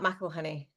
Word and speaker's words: McElhinney: name so I let her introduce us Michel honey but I I I get it wrong so